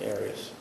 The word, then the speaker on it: Arias: we're talking here um your name has been pronounced in most of this trial areas is there another way of pronouncing it if you always always pronounced it Aras I've heard it pronounced about seven different ways um I say Aras as does the rest of my family okay well let's back